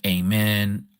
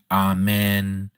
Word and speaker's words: amen: And so, the word people pronounce it amen, ahmen, a mean, you know, this there's all these different ways that people pronounce three letters in Hebrew.